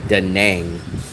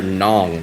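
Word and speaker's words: Đà Nẵng: They don't call it daang. I always hear nong like rhymes with Hong Kong.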